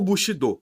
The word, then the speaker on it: Bushido: é chamado comumente de Bushido ou Bushido seguindo a pronúncia correta do Japonês e a sua tradução